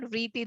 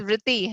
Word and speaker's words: Vritti: So it's not Vriti, it's Vritti.